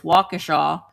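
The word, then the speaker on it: Waukesha: I cannot for the life of me think of the name of them, but um Wakaaw, it looks like it's spelled Wakkesha, but it's Wacaaw um has a couple really nice ones that I liked going into.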